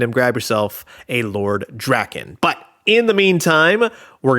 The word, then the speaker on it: Drakkon: This is a look at the brand new from the Super 7 MMPR Ultimates line, Lord Drakkon.